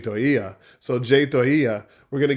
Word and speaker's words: Toia: I've been saying Toya. It's actually Toia.